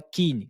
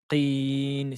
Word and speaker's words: اليقين: Attention, la lettre قاف. قين. Ne dites pas kin, kin ou kri, kri, krin, mais c'est qi, qi, qin.